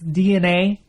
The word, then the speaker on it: DeNA: the Japanese mobile company I think it's DNA is what how it's pronounced who makes a lot